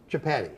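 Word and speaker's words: Chapatti: And pronounce the name of it again. It's Chapati.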